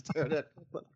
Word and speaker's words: Pterodactyl: The P is silent. Yeah, it's Pterodactyl.